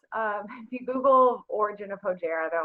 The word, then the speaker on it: Hojara: So, but it's Hojara. That's how I pronounce it. Hojara, okay.